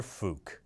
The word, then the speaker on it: Phuc: How do you pronounce that? Got it. Prime Minister Phuc.